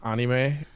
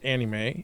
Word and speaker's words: anime: I used to always get on for saying anime, even though that's technically the Japanese pronunciation, but to be fair, the Americanized version is anime.